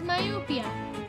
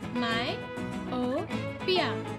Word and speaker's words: myopia: They have nearsightedness, which is also called as myopia. My-o-pia.